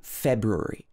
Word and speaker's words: February: Normally, this should be February. February.